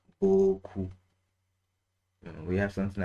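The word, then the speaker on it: beaucoup: Or something like boku.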